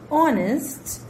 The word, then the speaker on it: honest: So before such words where H is silent, we use an.